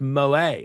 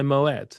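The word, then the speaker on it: Moët: Bring me my Moette. Yeah, Claude Moette was a Dutchman. He was not French and we pronounced the T in the Netherlands.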